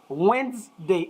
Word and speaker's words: Wednesday: tuesday i say tuesday wednesday it has two syllables not three it is not wednesday